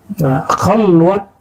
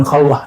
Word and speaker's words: khalwat: Khalwat dar anjuman, bukan khalwah ya. Orang Persia tidak bisa baca di dalam pelafalannya, walaupun di hari-hari bisa.